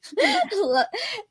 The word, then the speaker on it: Neagh: Neagh.